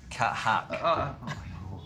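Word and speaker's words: Kathak: Cat Hack.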